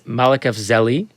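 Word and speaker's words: Malekafzali: But I am starting a new podcast with two extremely brilliant people, Seamus Malekafzeli.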